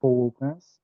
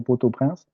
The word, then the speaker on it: Port-au-Prince: So for example, the capital city of Haiti is Port-au-Prince, which can either be pronounced Port-au-Prince or Port-au-Prince, depending on whether you use the French-based pronunciation or the more Haitian-based pronunciation.